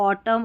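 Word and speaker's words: autumn: ना स्पेलिंग के, तो यहाँ पर एन साइलेंट रहता है, इसको ऑटम और कॉलम पढ़ते हैं।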